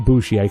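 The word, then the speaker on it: Bouchier: And I'm saying Bushier cuz it's spelled B O U C H I E R.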